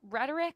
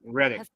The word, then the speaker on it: Reddick: So Reddick, is it Rhetoric? How do you say his last name? Reddick.